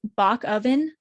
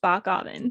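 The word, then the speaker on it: Bockoven: bockgavin um his name his last name is bach oven but it's pronounced bach alvin so i kept having to redo that part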